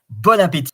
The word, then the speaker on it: bon appétit: Bon appétit. So you don't pronounce the N, the S, the T at the end.